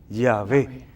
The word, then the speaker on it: Yahvé: Lo más común entre los estudiosos es que entiendan que debía pronunciarse aproximadamente Yahvé.